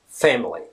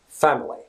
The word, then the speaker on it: family: Say, for example, the word family, right? In British English, it's pronounced family. So basically the second letter in the word family, A, is pronounced as A.